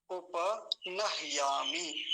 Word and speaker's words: उपनह्यामि: हकार, हलंत और यकार ऐसे मिलके बनता है ये हिया। उपनह्यामि। ह आधा है तो उसका आधा ही उच्चारण होगा, बहुत हल्का सा उच्चारण। उपनह्यामि, नह्यामि, ऐसा। ठीक है विपिन जी?